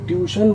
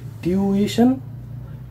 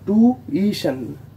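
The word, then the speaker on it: tuition: আমাদের পরবর্তী ওয়ার্ডটা হলো, এই ওয়ার্ডটাকে আমরা ছোটবেলা থেকে টিউশন বলে আসছি, কিন্তু এটার সঠিক উচ্চারণ টিউশন নয়, এটাকে ব্রিটিশ ইংলিশে বলা হয় টিউইশন, টিউইশন, এবং আমেরিকান ইংলিশে এটাকে বলা হয় টুইশন, টুইশন, আমেরিকান ইংলিশে টুইশন, ব্রিটিশ ইংলিশে টিউইশন।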